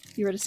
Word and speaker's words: Eurydice: They'll be good for, um, Eurydice [English pronunciation], Eurydice depending.